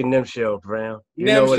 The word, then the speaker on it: Nemchel: I say Nemchel Brown.